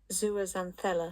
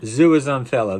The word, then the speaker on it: zooxanthellae: Let's go back to old mate and see if we can pronounce this again. Are you ready? Zooxanthellae. Zooxanthellae.